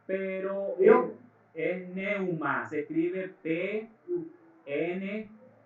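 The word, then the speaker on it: pneuma: la del griego es ni un más se pronuncia Newman pero es neuma se escribe pn e u m a hace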